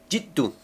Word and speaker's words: Jiddu: Jiddu, así debe pronunciarse con la doble D igual. Buddha, no por nada tiene la doble D. ¿Sí? Que hagan esa pausa cuando lo pronuncien. O sea, que hagan eso, esa pegada de lengua al paladar.